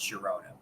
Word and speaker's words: Girona: I guess there's some sort of rule in Spanish where the GI makes a H sound, but it doesn't always because I'm pretty sure in Spain the club Girona is GI and that's pronounced Girona.